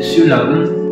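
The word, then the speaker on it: Siu Lam: conosciuto anche come Shaolin Siulan. Siulan è appunto un'altra pronuncia del termine Shaolin.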